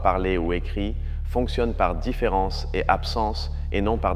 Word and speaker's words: différance: Notez que je le prononce normalement, mais qu'il l'écrit avec un « a » au lieu d'un « et ». En français, la différence est inaudible à l'oreille. Elle ne se voit qu'à l'écrit.